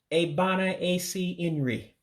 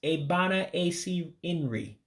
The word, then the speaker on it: Ebe Ana Esi Nri: Now, I'm pronouncing not all of the letters in it because, again, in Igbo, as you've been following me on some of these videos, you actually drop some vowels when you pronounce.